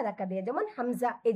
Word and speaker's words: হামজা: আর হামজাটা উচ্চারণ করবো আমরা হালকা একটু, মানে এভাবে থাকবে, নরম থাকবে, কিন্তু আমরা শেষের দিকে একটু ধাক্কা দেবো বা ঝাঁকুনি দেবো, যে হামজা হামজা, বুঝতে পারছেন?